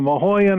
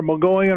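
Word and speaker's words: Mogollon: around the you know the the mahyan or mgoyan or Mion they pronounce it a bunch of different ways Rim area and seeing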